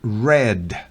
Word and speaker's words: read: and Run and read el pasado de read es red la pronunciación se escribe igual y el participio pasado también se escribe igual por la pronunciación es distinta Run si es una